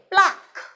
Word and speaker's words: pluck: সঠিক উচ্চারণটা হবে প্লাক, PLUCK, প্লাক।